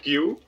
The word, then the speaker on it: queue: since forever i was instead of q i used to say q-e-u-e because i didn't know how to pronounce that oh my god sorry